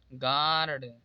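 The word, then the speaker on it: guard: य कॉमन हो जाएगा इसे पढ़ा जाएगा गर्ड जी ए आर डी यहां पर य साइलेंट होगा तो जी ए आर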